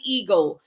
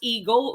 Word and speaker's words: ego: is it letter a eagle uh by the way people this is pronounced as ego hindi a gohan depo